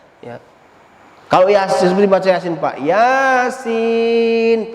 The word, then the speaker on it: Yasin: Dan kitab suci kita itu, Pak, tidak bisa diterjemahkan pakai bahasa lain selain bahasa Al-Quran, selain dengan bahasa Arab kita membacanya. Ya. Kalau Yasin seperti baca Yasin, Pak, Yasin panjang.